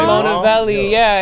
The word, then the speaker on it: MonaVeli: keep the MON in there, but pronounce it, pronounce it MonaVeli, and so that's how it came to be."